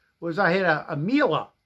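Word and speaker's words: Miele: I had a a MA rhymes with Sheila vacuum cleaner came in and the cord winder got pulled out.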